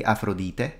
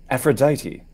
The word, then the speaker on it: Aphrodite: sounds in English uh in Italian we say afrodite how do you say it in English Aphrodite Aphrodite yeah Aphrodite yeah yeah Aphrodite we Aphrodite so we spell it essentially as the ancient Romans transcribe the ancient way different yes um although some things are similar because in modern Greek it's afroditi see how modern Greek